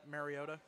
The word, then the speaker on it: Mariota: Speaking of pronouncing names, does it really irritate anybody else when like national announcers say Mariota? Yes. Yes. Okay, It's thank not you. marinara sauce. It's It's- Mariota.